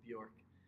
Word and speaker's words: Bjork: sports so my last name is hard to pronounce we've obviously Bjork so well actually our head coach he tells